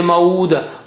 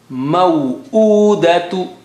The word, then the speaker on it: موؤودة: Don't say mauda. Mauda, that means you have not pronounced hamza properly. Mau'udatu.